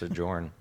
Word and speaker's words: Sojourn: kind of like so Joyner Weaver it's just pronounced adjourn okay yeah sojourn in Epic Games so if